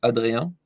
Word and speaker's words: Adrien: Well, you can I- you can say it in the French way, and in this way it's Adrien, but you can say Adrian.